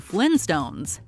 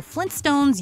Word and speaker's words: Flintstones: This belief persisted even though their theme song repeats the sharp T pronunciation. To be fair, we can see how kids might have dropped the T in Flint because it was easier to say.